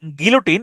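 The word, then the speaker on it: guillotine: বাংলাও হচ্ছে graffiti গিলোটিন এই শব্দটার উচ্চারণ হচ্ছে গিলোটিন এটাকে আপনি উচ্চারণ করতে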